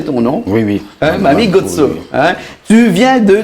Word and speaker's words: Mamy Gotso: J'ai bien prononcé ton nom. Oui, oui. Mami Gotso.